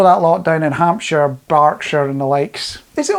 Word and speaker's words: Berkshire: Back in 1977, so go even further back in time, Southern Telly, you know that lot down in Hampshire, Berkshire and the likes.